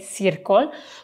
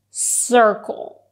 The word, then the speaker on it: circle: "Circle" I mean, Italian people tend to say "Circle" but it's actually pronounced "Circle" "Circle" I don't know why...